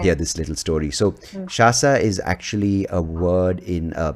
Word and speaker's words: Shasa: It's spelled Shasa, but a lot of people are just Lovely. making her Sasha.